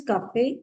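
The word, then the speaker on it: Kaffee: And coffee, it is pronunciation is cafe.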